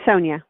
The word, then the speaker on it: Sonja: And I want to make sure that I'm pronouncing your right. Is it Sonja or Sonja? It's Sonja.